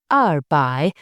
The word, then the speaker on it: 百: Finally, for numbers in the 200s, there are two ways to pronounce the two. You can say by or leang by.